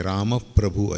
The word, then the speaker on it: रामप्रभू: श्री राम रामप्रभू नाही रामप्रभू ऐकती आपण आघात येतो हलकासा रामप्रभू ऐकती तर म वरती तो जोर येतो कारण शेवटी त्याच्यानंतरचा अक्षर प्र आहे जोडाक्षर आहे असे उच्चारण शास्त्रांमध्ये काही